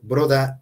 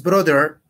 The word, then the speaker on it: brother: Bueno, es brother. Aquí dicen broda porque es la pronunciación en británico. Brother. Y si es broda, porque acuérdate que el inglés americano y británico es diferente, es pronunciación broda.